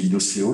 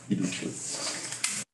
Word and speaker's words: Ilokeo: Avant, je disais Iloceo, j'ai rencontré Fabrice, maintenant je prononce ça correctement. Ilokeo.